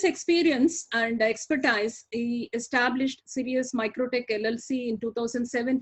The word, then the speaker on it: Sirius: is a president of serious how do you pronounce it you did it right serious serious my take LLC and mr.